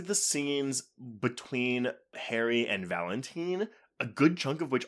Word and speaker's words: Valentin: It is Valentine, not Valentine.